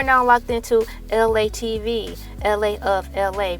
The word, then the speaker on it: ELA: LA of LA, pronounced like LA like this city.